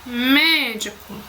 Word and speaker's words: médico: Quando a sílaba tônica, que é a sílaba mais forte de uma palavra, é a antepenúltima, ela é acentuada e chamada de proparoxítona. Exemplo, médico, lâmpada.